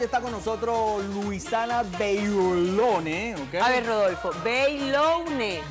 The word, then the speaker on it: Beyloune: está con nosotros Luisana Bailone, ¿ok? A ver, Rodolfo, Bailone. Bailone. Es fácil. Es como que tú estás diciendo en portugués Bailone. O sea, Bailone. Eso, Bailone. Así se pronuncia, sí.